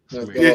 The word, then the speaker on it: Sumerian: Sumakian? Sumerian.